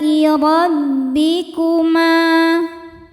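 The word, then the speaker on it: رَبِّكُمَا: Alai rabbikuma. Huruf ra dibaca secara tafkhim karena ra berharokat fathah. Cara bacanya ditebalkan. Rabbikuma.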